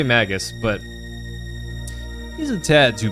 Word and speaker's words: Magus: say Sir froggy so how do you pronounce that name is it Magus Magus Magis Magis I say Magus but he's a tad